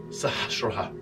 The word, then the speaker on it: Sahasrara: The Sanskrit word is pronounced Sahasrara.